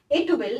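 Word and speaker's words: 'twill: Advice क्या मिल रही है, इट विल, देखो इस तरीके से जब ये लिखे होते हैं ना, प्रोनाउंसिएशन सीखो, इसको ट्विल नहीं पढ़ते।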